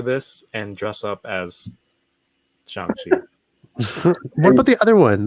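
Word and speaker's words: Shang-Chi: katie or katie's like calls him chiang chi like she doesn't and he's like no it's shangchi there's like a g like that's what i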